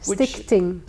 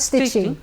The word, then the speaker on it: Stichting: Stichting. It's a CHT. Stichting, not stitching. Well, no, it's not stitching. No.